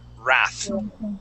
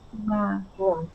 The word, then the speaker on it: wrath: The word is wrath. Okay, so we're going to use a long a sound. Wrath. Wrath.